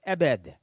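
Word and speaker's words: עבד: And then the last is an ayin, a bait, and a dalet, and it's pronounced ebed, okay, slave or servant.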